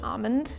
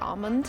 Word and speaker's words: almond: So, I think the way I heard it a lot growing up was almond. like dropping the L in entirety.